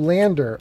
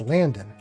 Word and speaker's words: Landon: I couldn't pronounce it right the first time. Right. I called you Lander, I think. But it's Landon.